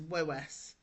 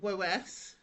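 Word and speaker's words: Woese: Now I never know how to say this name. I always say it as Wes. Wo E S E.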